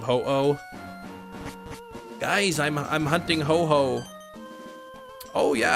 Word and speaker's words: Ho-Oh: Ho-ho instead of, yeah, instead of ho-oh.